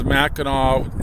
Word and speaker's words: Mackinac: Mackinaw is spelt with an AW at the end. And when I cross that bridge, then it becomes Mackinaw, ends in C, AC. The spelling differences are really a big thing up here.